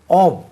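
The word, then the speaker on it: of: ஆவ் இதனுடைய உச்சரிப்பு கொஞ்சம் கவனிங்க. எஃப் என்று ஃபா உச்சரிக்கக்கூடாது, வி மாதிரி உச்சரி. ஆவ் ஆவ் விக்கு உச்சரிப்பு வரணும்.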